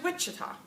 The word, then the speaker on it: Wichita: in there all different so where's Wichita Wichita first syllable position well we're going